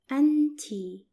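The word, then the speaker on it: أنتِ: and you are for feminine singular which is pronounced in Arabic as anti and tea and it's written like this notice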